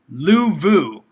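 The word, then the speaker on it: Louvau: Let me look up the pronunciation because again, I'm so brutal at these. But it's Frankie Louvu.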